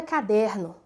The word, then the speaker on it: caderno: A palavra caderno. Nós vemos que a sílaba pronunciada com mais força é der. Eu vou deslocar a sílaba tônica só para vocês observarem como a palavra fica. Se eu disser caderno, fica diferente, né? Caderno. Vejam bem, é caderno.